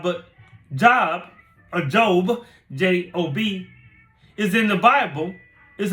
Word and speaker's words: Job: are not your indoctrination you go to your job but job Adobe j o b is in the Bible is a man who